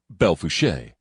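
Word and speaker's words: Belle Fourche: E F O U R C H E Bel Fuche.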